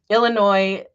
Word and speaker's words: Illinois: by now seriously um Illinois the S is silent did I do that